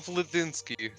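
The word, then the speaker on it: Vlaisky: he's looking at vinski uh I I am vinski okay cool you want to spell that for me like sorry there's something in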